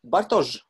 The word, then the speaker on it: Bartosz: looks very good and the correct pronunciation of your name is butters yes good so I'm